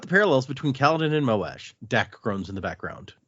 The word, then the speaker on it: Moash: recently someone say that some people pronounce it as Mosh, and I'm like, I can't see it. It doesn't work in my brain. Yeah, that doesn't, for some reason, that pronunciation makes me think of Moash as a surfer, and I'm like, I can't get behind that. Gnarly the audiobook says Moash.